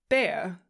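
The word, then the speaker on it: Bär: Um, if you put an um over the a, it's bear.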